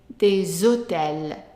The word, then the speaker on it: des hôtels: We pronounce them together and the S becomes like a Z. So we say des hôtels, des hôtels.